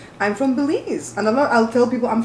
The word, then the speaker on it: Belize: like be il easy right I'm not from bailey's which is like ba y le easy the pronunciation I'm from Belize another I'll tell people I'm from bellezza oh